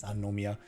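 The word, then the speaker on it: 三宮: you like oh yeah sorry you actually do pronounce a no in there it's sanomia but oh my god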